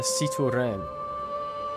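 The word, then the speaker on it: Citroën: Drive a Cito Ren. Because they make sure to pronounce it Cito Ren in the adverts. Which always confuses me. It's a Citroen, right?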